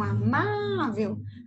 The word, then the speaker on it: amável: Então, amável. Tá vendo que é o má?